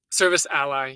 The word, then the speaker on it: Service Ally: And so I want to start with Service Alley business. Did I pronounce it properly? Service ally, yes. Ally, Ally. ally is in a friend, yes.